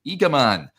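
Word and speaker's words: Igamane: He says, "I spoke to a Moroccan colleague yesterday about Igaman. He said phonetically his name is pronounced Eaman.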